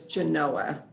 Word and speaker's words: Genoa: railroad town to ask the correct way to pronounce is genoa the legend is that there was a railroad